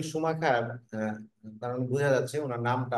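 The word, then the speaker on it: Schumacher: বি A Michael সুমাখার এটার বাংলা উচ্চারণ হচ্ছে বা এটার উচ্চারণ হচ্ছে সুমাখার মাইকেল সুমাখার কারণ বুঝা যাচ্ছে উনার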